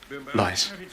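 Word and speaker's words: Leiss: L-E-I-S-S. Lice. Rhymes with spice, but twice as nice.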